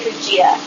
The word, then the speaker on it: Fujita: Everyone say Fujita. Fujita. Oh, it's hard to pronounce.